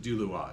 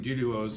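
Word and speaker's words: Duluoz: heard Alan Ginsburg say that Carowak said he pronounced it dulu. Well, I mean exactly. You don't say kioak when you talk speak in English, you say carowak. So rather than saying duduos, you say dulu.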